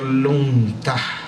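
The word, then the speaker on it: lungta: caballo en términos tibetanos la palabra se pronuncia lunta y esto quiere decir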